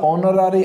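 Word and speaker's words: honorary: देखिए ये होगा ऑनरेबल, आन ऑनरेबल, ये होगा ऑनरारी, आन ऑनरारी, आन ए आर, ओके, एच नहीं, हेयर नहीं, ए आर, ओके।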